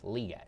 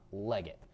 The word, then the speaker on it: Legette: And I recently heard it's Legette, not Leggett. So, Legette. Yeah. Excited that he is so critical of himself to become better, so that's cool. Yeah, I'm picking Xavier Legette and Bryce Young.